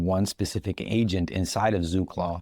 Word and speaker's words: ZooClaw: Pronounced as Zoo Clause, Zoo Clause is a productive team of AI specialists built for creators, entrepreneurs, and operators who need bandwidth.